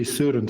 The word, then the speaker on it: Sörensen: I just say suren. So it's pronounced more or less in a in a Flemish way.